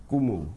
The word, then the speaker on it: Nkumu: Just for disclaimer, we'll make the N silent. So we'll say Nkumu. Kumu.